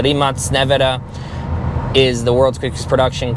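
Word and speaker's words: Rimac Nevera: And I know some of you say, the Rimac Navara, or the proper way to pronounce it, the Rimac Navara, is the world's quickest production car.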